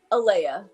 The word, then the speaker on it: Ala: Like that's that's what Ala Yeah, my name that's how you say it. Ala.